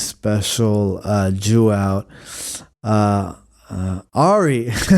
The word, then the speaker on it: Ari: skeptic skeptic tank um Eli why do I call him Eli he just had his special uh Jew out uh Ari not Eli it was two syllables but no yeah Ari